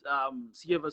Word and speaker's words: Ceva: In the winter season, I used Sieva Super. It's spelled CEVA, then it's Super.